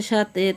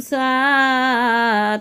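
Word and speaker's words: ثاء: ফোঁটা থাকলে তার নাম সা, তার নাম সা। সা উচ্চারণ কেমন হবে? সা জিহ্বার আগা থেকে নরমভাবে আদায় হবে, নইলে সিন অথবা সদ অক্ষর আদায় হয়ে পড়া হারাম হয়ে যাবে।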